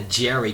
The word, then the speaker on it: Jheri: what was called a Jerry curl. That's spelled Jheri, Jerry curl.